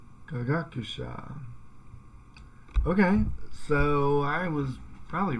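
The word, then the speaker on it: 科学者: Kagakusha. Okay, so that sounds like it's got an accent on the second more there. Kagakusha.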